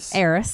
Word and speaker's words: heiress: Harris, how do you say that? Heiress, thank you.